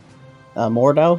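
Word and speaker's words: Mordhau: Mordau, am I saying that right?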